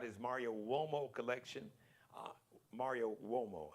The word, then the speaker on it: Uomo: Mario Uomo, I know it sounds like it's spelled with a W, but it's not. It's an Italian word, so it's you.